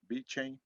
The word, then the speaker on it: VeChain: Is that VeChain, Ronald? VeChain, that's how you pronounce it? VeChain? Yep. Yep. VeChain.